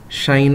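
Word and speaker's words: sinh: Okay, so we have the hyperbolic function here, and the proper way to pronounce this is cosh x, sin x, than x, etc. You can check the dictionary. That is how you pronounce them.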